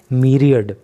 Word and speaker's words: myriad: देखिए MYRIAD की जो प्रोनाउंसिएशन होती है वो होती है मीरियड, और ये न्यू वर्ड हो सकता है आपके लिए।